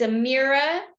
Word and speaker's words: Ameera: So it's Amera and spell it Ameera, and then the last name is.